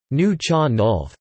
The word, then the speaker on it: Nuu-chah-nulth: The Nuucha Nulth, pronounced Nu-an-u, or approximately Nuucha Nulth, are indigenous peoples in Canada.